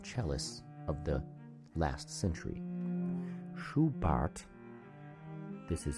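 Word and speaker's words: Schubart: to the German chalis of the last century shuart this is spelled s c h u b a r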